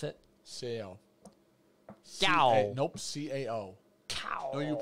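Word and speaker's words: CAO: Gow. I actually don't think I've had a lot of their stuff. That's not how you pronounce it. Pronounce it? C-A-L. Gow. Nope, C-A-O. Cow.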